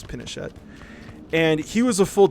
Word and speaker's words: Pinochet: And then the CIA said, absolutely not, assassinated him, and then basically appointed somebody called Pinochet, or Pinochet, however you want to say his name, it's Pinochet.